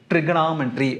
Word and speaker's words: trigonometry: என்னென்னா இந்த ஓவை சைலண்ட்டாக படிக்கணும். பாரு, ட்ரிக்னாமெட்ரி இப்படி தான் படிக்கணும். ட்ரிகோனாமெட்ரி அப்படின்னு படிக்கக்கூடாது. இல்லை இன்னும் கூட சில பேர் என்ன பண்ணுவாங்கன்னா இந்த ஓ படத்தில் லைட்டாக ஏ சொல்லுவாங்க, ட்ரிகனாமெட்ரி அப்படி படிப்பாங்க.